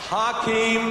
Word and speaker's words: Hakeem: Hakeem, as I've been told to pronounce it tonight, I'm here representing millions